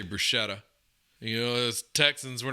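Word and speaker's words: bruschetta: a br a Bretta I heard it was called brusketta someone told me it was actually the way you pronounce it but I always say brushetta you know Texans were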